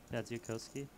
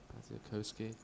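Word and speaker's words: Badziakouski: 来看看这手牌，藏哥九秀同色，敲一下吗？I believe the correct pronunciation or Baziakowski. Baziakowski.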